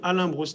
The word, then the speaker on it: Alain Broustail: okay very good so my name is Alan bua if you pronounce it in French I'm born in Paris